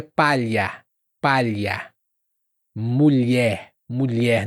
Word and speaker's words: mulher: Mulher. Mulher. Não mulier, mas mulher.